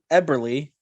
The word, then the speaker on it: Eberle: the way with 15 goals followed by jorgen eberle actually i hope i pronounced that right mike did i pronounce that